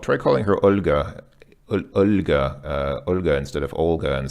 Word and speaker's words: Olga: Olga in English but in Russian you see the L has a soft sign so when you see so many named Olga it's actually Olga if you know it a Russian woman named Olga called try calling her